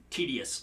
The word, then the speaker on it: TDSFX: all right um but it's pronounced tedious like it's a tedious task it it's the way